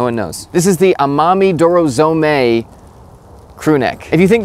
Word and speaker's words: Amami Dorozome: This is the Amami Dorozami, or Dorozomi. Just gotta look up how to say it here. Oh good, no one knows. This is the Amami Dorozome crew neck.